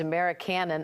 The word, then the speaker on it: Americanon: The book is Americanon. Am I pronouncing that right?